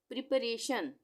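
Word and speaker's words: preparation: PRE प्री, PA प, RA रे और TION शन, यानी प्रिपरेशन।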